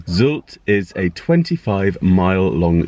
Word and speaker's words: Sylt: population here is 21,000 pronounced sults out sort of been saying it wrong zilch is a 25 mile